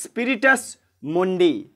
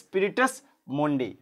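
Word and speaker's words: Spiritus Mundi: এটা কিন্তু হবে যে স্পিরিটাস মন্ডে এটা তোমরা পড়ার মধ্যে পাবে এই ড্যাশে হবে কি ড্যাশ ট্রাবলস এটা হবে স্পিরিটাস মন্ডে অথবা কেউ উচ্চারণ করবে মানডে স্পিরিটাস মানডে তারপর দেখো 12 দাগে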